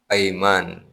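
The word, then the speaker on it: أيمان: Jadi kalau ada huruf alif ya, mim alif nun. Kemudian ada hamzah di atasnya dibacanya. Itu sumpah. Jangan dibaca iman. Ya, kalau iman itu hamzahnya di bawah alif. Hamzahnya di bawah alif dibacanya iman.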